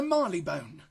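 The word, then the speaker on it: Marylebone: of those Mainline stations so Marley bone is the way it should be pronounced and Miley bone was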